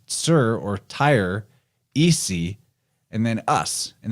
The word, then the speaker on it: Tyre: Because when you break down the name, you have Tyre, which is also the Phoenician capital, that it would be pronounced Sir by the Phoenicians.